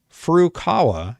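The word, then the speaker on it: Furukawa: f aawa f aawa i can't talk today F Kawa yeah I said it right the president of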